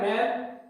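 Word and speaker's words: men: इनकी जो दोनों की जो उच्चारण है, जो दोनों का जो प्रोनाउंसिएशन है, उनमें थोड़ा सा डिफरेंस है, जिसे ध्यान से आप सुने। मैन, मेन, मैन, मेन।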